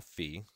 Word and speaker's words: Phi: the golden ratio which we call Fee Phi that's how you say it fee and the symbol here